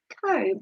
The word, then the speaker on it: comb: Comb has a silent letter.